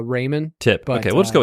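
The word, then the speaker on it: Reiman: said it's Raymond or Ryman how do you say it uh his family and I we'd have always called it uh Raymond tip okay we'll just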